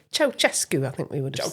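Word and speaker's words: Ceaușescu: How are you pronouncing that? Ceausescu. Oh, is that right? Yeah. Okay. So I'm not sure that was a popular pronunciation in the UK. Was it not? Ceausescu, I think we would have said.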